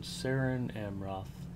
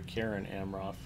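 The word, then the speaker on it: Cerin Amroth: of you meditate upon sarin amroth I'm sorry Karen amroth if you're trying to figure out Elven pronunciations then always use a hard C and what was my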